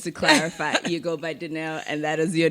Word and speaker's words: Dineo: yeah, Dineo. It's 1, 2, 3, 4, 5 letters, alphabets. Not that Three difficult.